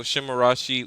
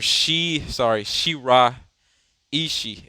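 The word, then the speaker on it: Shiraishi: So Shimarashi is the point forward, or Shira Ishii is how you say it.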